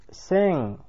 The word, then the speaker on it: sing: Все тот же носовой звук и, собственно говоря, только он. Буква G здесь не читается, а лишь дает этот самый носовой звук O. Например, sing – петь.